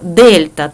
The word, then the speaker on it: Дельта: це кінцева температура то Дельта т стрільта це трикутничок да читається як Дельта означає змінніна температура Т2